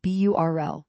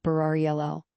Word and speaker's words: Burl: He pronounced his nickname Burl, not Barari Ll."